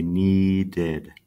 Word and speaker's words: needed: add another IDI and the way that I say this instead of one syllable need me to say needed needed so it's actually two syllables same with this one